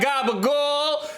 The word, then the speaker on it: gabagool: Is that gabagool? You gotta say it like Tony Soprano though.